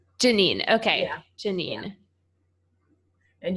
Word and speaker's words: Janine: It's Janine. Janine.